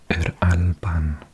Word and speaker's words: Yr Alban: Now sometimes we put the word for the, which is either a Y by itself, pronounced or if the word starts with a vowel, we have it with an R as well, so Yr Alban.